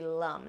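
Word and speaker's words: lam: The seed sound for the root chakra is lum. Now, it is spelled L-A-M, but in the Sanskrit language, A is pronounced Okay, so this is going to be lum.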